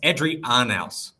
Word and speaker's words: Adrian Arnaus: Adrian Arnaus. Oh, wow. That was not close. Kind of rhymes with house.